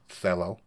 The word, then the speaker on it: Celo: on that idea okay sello pronounce cello okay means purpose in